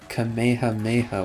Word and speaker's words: Kamehameha: than the Kamehameha wave it's a turtle hermit wave by the way the Kamehameha wave that is how you say that word I was seeing some